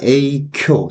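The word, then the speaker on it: 影響: 그러면 영향하면 우리가 에이쿄 세게 발음해 줘야 돼요.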